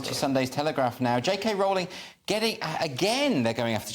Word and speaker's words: Rowling: It's museums cancels JK Rowling over super hateful trans views. Okay, and her name's Rowling, by the way. Rhyme with bowling.